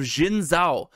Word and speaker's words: Xin Zhao: And then finally, I practice this pronunciation. The last reprint we're seeing is the Capture of Xin Zhao.